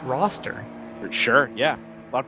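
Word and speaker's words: Worcester: um it's in Boston it's pronounced roster sure yeah a lot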